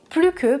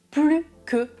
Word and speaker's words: plus: Dans ce cas-là, très spécifique, vous ne prononcez pas le S du mot plus. Autre exemple, au début, ils étaient 10, maintenant, il ne reste plus que 2 joueurs.